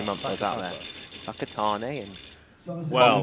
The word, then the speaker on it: Whakatane: Anything WH is an F. It got me. I was chuckling away for the first 3 months I was out there. Whakatane and Well, Whangarei.